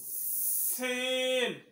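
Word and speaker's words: سين: যা যা সিন সিন সিন সিন জোরে বল সিন সিন হরফ উচ্চারণ সময় জিবলা রাখাটা নিচের দাঁতের গোড়ার সঙ্গে লাগাইতে হবে এবং হালকা বাতাস বের করিতে হইবে।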